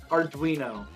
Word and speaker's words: Arduino: Arduino. With like a W. Like a ween. There's a ween in there.